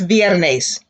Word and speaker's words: viernes: from thursday to friday repeat that classy oys viernes muy bien how to say it's thursday fill